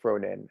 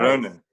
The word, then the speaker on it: Frohnen: umlaut above the O in the middle of Frohnen. Is that how you pronounce it? Yeah, you got it. It's Yeah. actually the German word for indulge. Ooh, I like that. Nice. Frohnen.